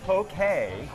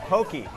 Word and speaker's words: poke: But anyway, Janice or Giannis says, those poke bowls are pronounced poke, not pokey.